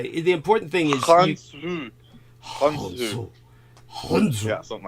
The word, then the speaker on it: Khonsu: It's like a syllable we don't even have, and even in Arabic, it's like a totally different syllable.